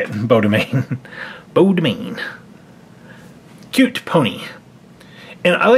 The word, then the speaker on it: Beau Demain: Beau Demain.